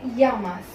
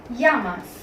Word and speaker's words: llamas: It is pronounced either as j or y depending on your intonation. कुछ लोग इसको जामास pronounce करते हैं और कुछ लोग इसे यामास प्रोनाउंस करते हैं.